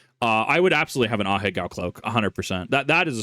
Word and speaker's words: Ahegao: Just make sure it's not one of those like Ahiago anime shirts, though. It's pronounced Ahegao.